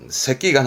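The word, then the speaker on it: 隻眼: 그러면 한쪽 눈, 말하자면 이제 외눈을 말하는 건데 발음은요. 새끼간 합니다.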